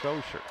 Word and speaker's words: Auger: Looks like Auger, A-U-G-E-R. It's pronounced Osher.